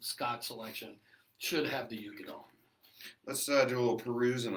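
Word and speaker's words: Uigeadail: So when you look at the word Ugadal, it kind of looks, if you were to pronounce it phonetically, it would be Uigiadale, but it's pronounced Ugadal.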